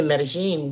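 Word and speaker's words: Medellín: I said, Medellin.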